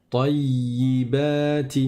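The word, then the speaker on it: طَيِّبَاتِ: Vous voyez qu'il y a une shadda sur le ya. Donc je reste appuyé sur le ya, sur la consonne, le y, sur la consonne du ya avant de prononcer la kasra. Tayyi. Mais ça ne veut pas dire que je prolonge le ta comme s'il y avait un alif après. Je dis pas tayyi, tayyi. Non.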